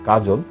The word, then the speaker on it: কাজল: এই অ এর সাথে, অ এর পূর্বে এই রয়ের সাথে একটি অ আছে, এই জন্য এই অটা ও এর মতো উচ্চারণ হয়েছে। কাজল, কাজল শব্দে জয়ের সাথে একটি অ আছে, এই